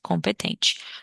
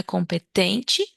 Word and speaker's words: competent: muito sábio in competent competente Ok então essa aqui também parece com o português mas ó cuidado com a sílaba tônica não é competente mas é competent competent OK e What are